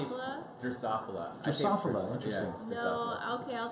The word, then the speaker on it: Drosophila: How do I pronounce that? I just say Drosophila? Drosophila.